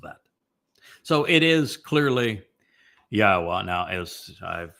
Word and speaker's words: Yahweh: I go through the entire Hebrew lexicon and demonstrate without any doubt that the proper pronunciation of God's name is Yahweh.